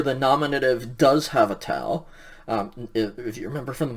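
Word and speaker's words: τά: Going to the neuter plurals now, again the nominative has a tau, so it's ta. It's basically pronounced the same as the singular, but it's tau alpha instead of tau omicron.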